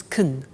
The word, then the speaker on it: can: can speak spanish now notice the pronunciation of can becomes kun she can she can